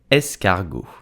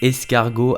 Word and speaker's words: escargot: i'm talking about snail so how do you pronounce snail in french with the correct accents you will say escargot escargot did you know that escargot are considered edible in certain areas such as